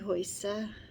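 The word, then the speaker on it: Hujsa: If you go on to my Facebook page, it's Hoysa. That's with an I, and my last name is spelled H-U-J-S-A.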